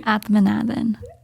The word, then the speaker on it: Athmanathan: Athmanathan.